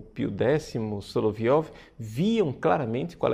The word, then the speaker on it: Solovyov: fala né de vladimir soloviov a pronúncia é na verdade seria solovyov os três diálogos e